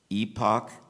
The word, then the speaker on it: epoch: contestant number 78 temeson your word has two correct pronunciations Epoch epoch can I have all